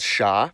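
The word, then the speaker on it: Ш: with just one letter it's called sha it's used in every cerillic script language and as you can guess it sounds like sh other interjections like oh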